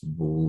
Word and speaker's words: 不: You need to remember it's like 不. 不 originally is like 4 tones, right? This character 不 is 4 tones. But if followers is another 4 tones, right? Another 4 tones, then it's gonna be changed into 不, 对吗？